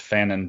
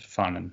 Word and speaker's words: Frantz Fanon: the name Frantz Fanon maybe I've been pronounced Fannin but it's fun yeah so one of